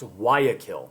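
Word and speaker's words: Guayaquil: previous slide we discussed it uh this is pronounced wakil the wakil uh conference bolar agrees um with San Martine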